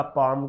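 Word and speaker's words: palm: इन सभी का पाम, काम, काम में ये क्या है, हमारे साइलेंट है एल। आप सोच रहे होंगे सर एल क्यों नहीं बनाया, क्योंकि एल की साउंड ही नहीं आ रही।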